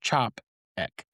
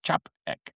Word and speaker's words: Czapek: and you're going to hear it Chopp ek. Um the proper pronunciation is Chopp like is in c h a p and then a dash and then e c k Chopp ek.